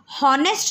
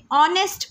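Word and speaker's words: honest: हम इस वर्ड को हॉनेस्ट नहीं पढ़ते हैं, हम इसे ऑनेस्ट पढ़ते हैं. We read it ऑनेस्ट, O sound आ रहा है, सो इसीलिए that's why we have used N.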